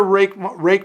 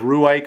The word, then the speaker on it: Ruike: pronounced it, sort of Ruike or something, but it is rake with a bit of an H sound at the end.